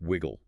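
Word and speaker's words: Wyg&: There is a prominent character in the narrative named Widgeon, spelled W-Y-G ampersand, but pronounced Wiggle. Wiggle? Okay. Yeah, Wiggle is a classic peeper.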